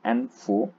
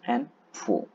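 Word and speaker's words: ANFO: and stabilizers next is an a4 it is pronounced as n4 it's called ammonium nitrate foil oil is a widely used bulk industrial explosive its name commonly pronounced as n4 it consists of 94 percent porous build ammonium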